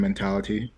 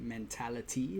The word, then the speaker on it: mentality: Chris, I appreciate a person that pronounces it mentality rather than mentality with a D. Really personality. I don't know. Maybe it's just a Miami thing. We like to turn those T's into D's and it just like rolls